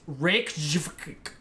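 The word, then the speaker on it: Reykjavík: Can you pronounce it correctly? I'll try it and I'll let you. It's Reykjavik.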